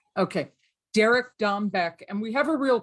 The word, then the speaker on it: Dombeck: Dombeck? Correct. Okay, Derek Dombeck.